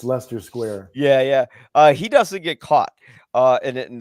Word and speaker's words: Leicester Square: It's spelled like Leicester, but it's Leicester Square.